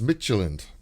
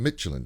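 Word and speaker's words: Mechelen: champions league um and it's michelin is how you pronounce that other team michelin i i got that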